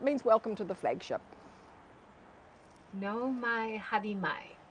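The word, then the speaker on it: nau mai haere mai: it is it says no my harimai which means welcome to so it means welcome to the flagship no my hadimai like yeah yeah yeah so the au is pronounced oh no my hair re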